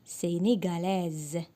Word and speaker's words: sénégalaise: Sénégalais, sénégalaise. Alors, on a la lettre S. Entre les deux voyers se prononce Z.